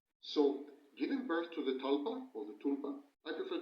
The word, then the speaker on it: tulpa: So giving birth to the talpa or the tulpa I prefer to call it tulpa though the correct pronunciation is talpa born it's a process